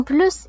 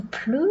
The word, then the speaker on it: plus: Ni plus ni moins. Donc on ne va pas prononcer le S.